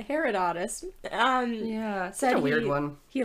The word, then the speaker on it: Herodotus: The Greek historian Herodotus? Oh, right. I have to say his name in mine too. Herodotus? Yeah, that's what the internet said. Herodotus.